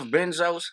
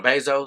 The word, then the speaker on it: Bezos: shop with me I mean like I'm Jeff benzos mm-hmm or am I saying his name wrong because of your Bezos you say something he said to me stuck